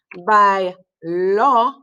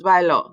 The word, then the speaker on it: bailó: For the he, she form, bailó, accent on the O, otherwise it gets confused with the present tense, bailó.